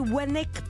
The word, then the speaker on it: Wanecque: vos invités vous recevez Malori Wek parce que dans le chnor on prononce bien le W donc c'est mal tous